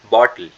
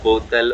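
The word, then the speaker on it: bottle: या सुनोगे ध्यान से मैंने कुछ अलग ही तरह से प्रोनाउंस करा है आई ड नॉट से बोतल और बॉटल वाला साउंड ही नहीं है ग्लोटल साउंड होता है थोड़ा मुश्किल होता है बटल बटल बटल लास्ट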